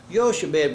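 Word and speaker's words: Jochebed: compound, Ichabod and Yahweh, and they say it's Yochebed, which means Yahweh is glory. The pronunciation changes when you combine words.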